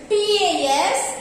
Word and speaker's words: pas: Okay, and we will add pas after the verb. Ne pas. It's not ne pas. Pa. S is silent.